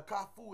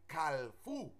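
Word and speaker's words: Kafou: In Creole, a Kafu is the word for the intersection. That's the correct pronunciation. But you have, in the West, people who don't know, they say Kalfu with a L, Kalfu, and it's not the correct pronunciation.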